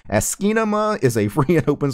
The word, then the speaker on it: asciinema: and open source program it's asy with Nema behind it kind of like asy Cinema but it's you're missing a syllable for it to be asy Cinema it's esima esima is a free and